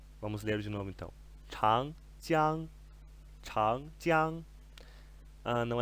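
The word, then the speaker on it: 长江: e vai aparecer muitas vezes para vocês é chang, jiang. Chang, a maioria de nós já deve saber que significa longo, ok? Chang, chang, chang, jiang significa o longo rio, ok?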